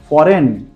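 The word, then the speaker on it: foreign: है थॉट्स वही वहां पर हमने जी को साइलेंट रखना है फर्स्ट सन रेजिन फॉरेन फैन और कैंपेन ओके गैस और 10 परसेंटेज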